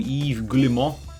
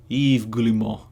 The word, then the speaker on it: Yves Guillemot: The Ubisoft CEO, Yves Guillemot? Am I going to look up how to pronounce it, or am I going to continue